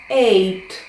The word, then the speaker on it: eight: Як ніби їх і немає. Е. І т. Якщо дуже спростити, можна сказати ей. Да. Ей. Але якщо це буде гарна англійська вимова, eight.